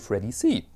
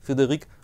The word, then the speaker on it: Frederique: in this episode I'd like to speak about Freddie see Frederick constant if you had complained to his